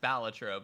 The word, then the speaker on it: Balatro: I suppose it's pronounced Balatro, but whatever. I call it Balatro. It's fine. Balatro, Balatro. It's all the same potato.